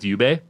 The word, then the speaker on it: Jubei: Plus it was like especially with Yubei when you're like or Jubei. Do you pronounce it J or Y? If you play should be- Onimusha, it's Jubei.